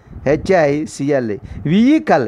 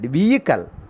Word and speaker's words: vehicle: A private vehicle, V-E-H-I-C-L-E, vehicle, H is a silent, vehicle.